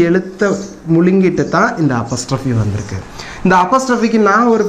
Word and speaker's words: apostrophe: இதுக்கு பேர் என்னன்னு கேட்டிங்கன்னா எல்லாரும் APOSTROPHE இதை வந்து அப்பாஸ்டர்ஃபின்னு உச்சரிப்பாங்க. இதனுடைய உச்சரிப்பு அப்பாஸ்டர்ஃபி, அம்மாஸ்டர்ஃபி, தாத்தாஸ்டர்ஃபிலாம் கிடையாது. இதனுடைய உச்சரிப்பு அப்பஸ்ட்ரஃபி. அப்பாஸ் சொல்லக்கூடாது, அப்பஸ்.